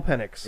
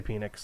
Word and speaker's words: Penix: remember Is It Michael Michael penix which I'm congratulating myself for pronouncing it that way because I really wanted to say Phoenix yeah but I didn't